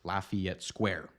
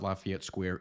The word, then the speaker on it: Lafayette: correct French pronunciation however in St Louis you'll notice that people here say it more like Lafayette Lafayette Square so if you notice